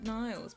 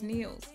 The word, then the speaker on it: Niels: I wanna call it Niles, but it's Niels. Niels in English.